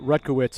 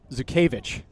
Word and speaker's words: Zukevich: Player that was in on a ton of plays, mispronounced Will Rutkowitz. It's Will Zukevich.